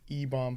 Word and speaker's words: Ebon: me the most was Ebon playing the thing only because like and that's how you pronounce his name, right? It's not Eban, it's Ebon.